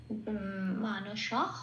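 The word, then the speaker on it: মানসঃ: তালিকাভুক্ত করে দেওয়া আছে বিসর্গ শেষে থাকলে পূর্ণ হরপ উচ্চিত হবে সেইজন্য মানস হ বলতে হবে তাহলে কি পেলাম শব্দটা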